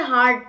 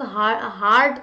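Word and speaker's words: heart: चलिए नेक्स्ट हम आएंगे हार्ट पे, कितने बच्चे हार्ट को हर्ट कहते हैं बताओ, कितने बच्चे, बहुत सारे लोग हार्ट को हर्ट कहते थे पहले, तो इट्स हार्ट, हर्ट की स्पेलिंग HURT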